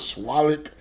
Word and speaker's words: SWUTLAK: I'm telling you, I done heard all kind of SWUTLAK. I heard somebody put an R in there somewhere.